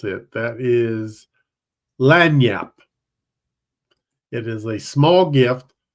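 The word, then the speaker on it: lagniappe: of that one I can't remember how to pronounce it that is lanap it is a small gift or something extra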